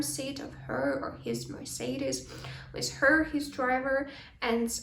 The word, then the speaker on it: Mercedes: Тут ми можемо звернути увагу на вимову бренду Mercedes, так? Це не Mercedes, а Mercedes.